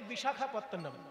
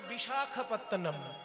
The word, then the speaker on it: বিশাখাপত্তনম: বিশাখা, বিশাখা নয়, ক্ষয়ে আকার হবে না, শুধু খ।